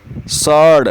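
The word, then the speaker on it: sword: Cupboard cupboard फिर आता है तलवार के लिए स्वर्ड नहीं कहते इसमें। इसमें डब्ल्यू साइलेंट है। इसे बोलते हैं स्वर्ड। स्वर्ड सॉड।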